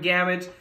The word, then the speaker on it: Gamage: Go search for him, Gamage, rhymes with damage.